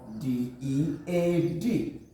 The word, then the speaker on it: dead: Digraph EA. Digraph EA. Speaking of DEAD pronounced, we call this word dead.